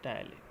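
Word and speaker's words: ptyalin: इट is also known as टाइलिन, also known as टाइलिन। पी यहाँ पे क्या होता है, साइलेंट होता है, ठीक है।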